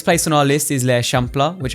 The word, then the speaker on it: L'Eixample: The next place on our list is l'Eixample, which I had to ask for Ainoa to basically explain to me how to pronounce that.